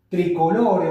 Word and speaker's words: tricolore: de la selección gala, tricolore o tricolor, como se pronuncia en francés, el balón oficial del certamen.